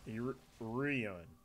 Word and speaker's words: Iruron: How would you say his name? I've heard him say it's Iruron. Iruron, yes.